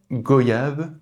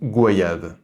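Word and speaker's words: goyave: doute déjà entendu parler faut-il dire goyab ou goayav les deux prononciations sont correctes j'ai toujours dit et entendu goyav mais les arguments pour la prononciation de goayave sont plus pertinents à mes yeux le mot vient de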